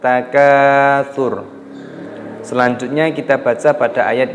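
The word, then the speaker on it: التكاثر: Maka roknya dibaca sukun ataupun mati. Jangan dibaca at-takatsuru. Nah, itu salah. Alhaakumut takatsur.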